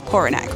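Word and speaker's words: Poranek: How do I pronounce this name? Pornack? Pornack? I think it's p o r a n e k. That's Pornack, right? Yeah, okay.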